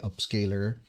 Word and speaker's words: Upscayl: to use an AI upscaler. Um, that's the case with me, and I use an app called Upscale. That's spelled Upscayl.